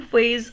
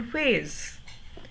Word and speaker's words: phase: There is f sound in fearsome, f sound in phase. Here also we will say alliteration has been used. अब spellings देखिए F and PH, but sound same है, तो yes, alliteration is there.